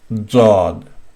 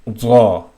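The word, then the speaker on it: ضاد: So it would be Zod, Zod, Zod, and the sound is Zaw, Zaw. The name of the letter is Zod, but the sound is Zaw, Zaw, Wala Zawleen.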